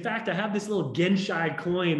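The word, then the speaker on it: genshai: words which is called gen shy and gen chai it's spelled g-e-n-s-h-a-i and a mutual friend of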